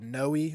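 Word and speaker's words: Noe: on a place called noi or no Creek I've heard it pronounced both ways but it's spelled n OE it's a place right on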